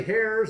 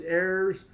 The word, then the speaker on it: heirs: no relatives or heirs um we don't say hairs I don't know why uh the Spanish language of course we don't pronounce the h but for some reason or